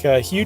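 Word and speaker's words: Hieu: It's spelled H-I-E-U, pronounced Hugh, and N-G-U-Y-E-N.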